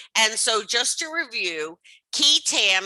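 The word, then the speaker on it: qui tam: so just to review key tam it's spelled q-u-i but it's pronounced key key tam the key tan provision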